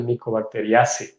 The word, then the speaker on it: Mycobacteriaceae: Hace poco tiempo un amigo, un colega de laboratorio me dijo que se pronuncia Mycobacteriaceae.